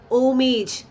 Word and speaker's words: homage: Then homage. They paid homage. അപ്പോൾ ആ homage എന്ന് പറയുന്നത് റെസ്പെക്റ്റ് എന്നുള്ളതാണ്, ട്രിബ്യൂട്ട് എന്നുള്ളതാണ്. An homage. An homage. Ho alla, H is silent.